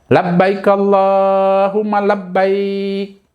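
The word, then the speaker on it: لبيك اللهم لبيك: kurang tepat cara membacanya kemudian yang tepat Bagaimana apa Saya ulangi sekali lagi Labbaik Allahumma Labbaik seperti itu ya sesuai dalam hadis dijelaskan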